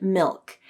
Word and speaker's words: milk: start with the word milk as in I like to drink milk every morning this word may be challenging because of the dark L sound ole I have another